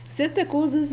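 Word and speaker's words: psittacosis: ناخد بالنا مع بعض ان الستاكوزس بتتنطق ستاكوزس البي سايلنت او اورنيسوزس. ستاكوزس بيطلق عليه في المرض ده في الطيور الستاسين بيرد، المقصود بيها طيور الزينة.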